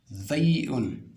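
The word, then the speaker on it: زاي: Zay'un, zay. Donc, vous mettrez la langue entre les deux dents, les niveaux dentaires, donc dents supérieures, dents inférieures.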